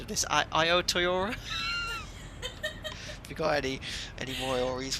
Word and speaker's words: Aotearoa: And again, I'm not too sure how to pronounce this. I think it's Aotearoa. I think I watched I played a pronunciation of this. Aotearoa.